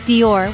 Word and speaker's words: Dior: Dior or Dior it's Dior with a soft d and a y just one smooth syllable that's Dior for you last but